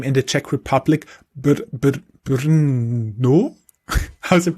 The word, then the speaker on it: Brno: Brno? How's it pronounced? No, it's Brno. It's actually just a 4-letter city.